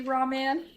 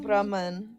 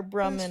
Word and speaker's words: Brahman: That's such a like American way to pronounce it though. It's technically pronounced like Brahman or Brahman or something like that.